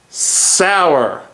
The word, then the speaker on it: Sauer: Let's talk about six sour and it is pronounced sour. Let's get that straight.